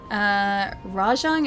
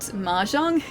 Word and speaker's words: Rajang: Rajang is not Mahjong? I know, but it's like, that's the way that he's pronouncing it, right?